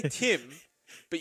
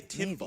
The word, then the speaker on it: Timbersaw: You know, I never liked the way you've called Timbersaw Timb, John. It sounds so unnatural. Like, you could say Tim, but you say Timb with a B at the end to really pronunciate the